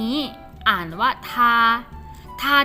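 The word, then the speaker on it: 她: รู้ แล้ว นะ ว่า คำ นี้ อ่าน ว่า ทา ทา ที่ แปล ว่า อะไร คะ อ่า เรา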